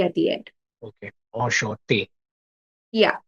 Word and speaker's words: enchanté: So N, the pronunciation of N is silent, or like though both the N, no, on is okay, but chanté, Hmm. chanté or chante. Yeah, so the thing is, yeah, it's shante.